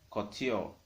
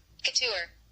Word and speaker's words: couture: you can add to your business name is couture. C-U-T-U-R-E. C-U-T-U-R-E. Let me hit you the pronunciation of it. Couture.